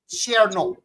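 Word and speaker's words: Černoch: So like in Czech, my name is really like pronounced Cernoch. Like the OCH is knock, but they say knock.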